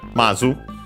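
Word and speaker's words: まず: First and foremost, and funny enough, also considering the Japanese, we have Mazu, which means first of all, firstly, to begin with, before anything else, accent on the first syllable.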